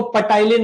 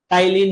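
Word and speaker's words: ptyalin: ये जो पी है ना यहां पे साइलेंट है। इसको नहीं पढ़ना है। है ना? इसको पटाईन मत बोल देना। टाइलीन ही है ये।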